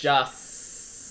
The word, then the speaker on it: Joss: How do you say Josh? Joss Whedon.